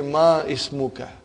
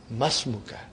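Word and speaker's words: ما اسمك: It will be incorrect to say ma ismuka. You should say masmuka. Because hamzatul wasal. When the hamzatul wasal comes in the beginning of a sentence, you pronounce it. If it there is something in front of hamzatul wasal, then it is assimilated.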